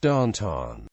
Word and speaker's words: downtown: is the source of the stereo typical Pittsburgh pronunciation of downtown as Danton Pittsburgh also features an